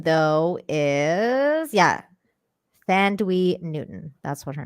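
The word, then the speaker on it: Thandiwe: Oh, Thandaway Newton. There we go. Thandaway. There you go. You said it right.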